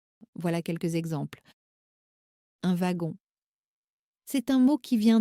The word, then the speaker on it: wagon: bonnes chances de que le W se prononce comme un V. Voilà quelques exemples. Un wagon.